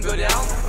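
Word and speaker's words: Gödel: What have you ever done, Godel?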